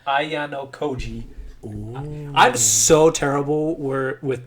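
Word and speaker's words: Ayanokoji: So this is how you pronounce this guy's name, Ayano Koji.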